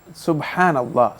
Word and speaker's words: সুবহানাল্লাহ: প্রিয় দর্শক আরো লিখেছেন সঠিক উচ্চারণ কোনটি সুবহানাল্লাহ নাকি সুবহানা সুবহানাল্লাহ সুবহানাল্লাহ এটা হচ্ছে সঠিক উচ্চারণ লিখেছেন সুবহানাল্লাহ এটাই না সুবহানাল্লাহ সুবহানাল্লাহ জি সুবহানাল্লাহ সুবহানাল্লাহ জি সুবহানের পরে আল্লাহ শব্দকে আলাদা করার বৈধতা নেই এজাফত হলে এখানে আলাদা করার বৈধতা নেই সুবহানাল্লাহ উনি যেটা লিখেছেন দ্বিতীয়